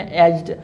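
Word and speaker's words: edge: इसमें एज जी नहीं, आपने एज कहना है, ठीक है, जी इसमें साइलेंट है।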